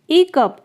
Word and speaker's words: hiccup: ई कप, यहाँ पे H silent है। इसे हिकअप नहीं कहते हैं, इसे कहते हैं ई कप, यानी हिचकी आना।